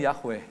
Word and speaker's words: Yahweh: Dia katakan begini, mengapa nama YHWH tidak ada vokalnya? Karena memang tidak dibacakan, tetapi harus diucapkan dengan cara menghirup udara dan melepaskan udara ketika kita bernafas. Saya kasih contoh, saudara. Jadi untuk membaca nama Tuhan itu begini. Kedengarannya Yahweh, saudara.